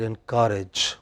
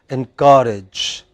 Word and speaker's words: encourage: two words in pronunciation you said encourage you should have said in courage what is the word whenever you attach e n then it is the next word you know endanger okay encourage engineer you know yeah